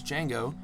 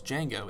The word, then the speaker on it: Django: reprises his role as Django in Django Unchained during this scene. The D is silent.